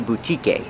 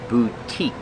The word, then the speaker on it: boutique: The E at the end is silent. We do not say boutique. It's the long U, boo, and the long E, boutique.